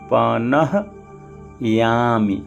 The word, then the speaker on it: पनह्यामि: यहाँ पर भी देखिए नह्यामि, हा के साथ ही या जुड़ा हुआ है, यानी हा आधा है तो जल्दी बोलेंगे पनह्यामि, और या के साथ